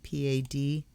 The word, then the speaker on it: Padme: For instance, that Padme, P-A-D-M-E, is in the Hindu traditions. They say Padme Hum. In Tibetan, it's Peme Hung.